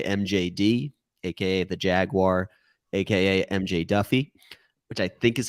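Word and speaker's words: MJ Daffue: is my boy mjd AKA the Jaguar AKA MJ Duffy which I think is how you pronounce it but that's an issue that I'm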